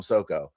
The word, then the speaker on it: Soko: Now this is he he has written but I always call him Soco. Is that the proper pronunciation for your name?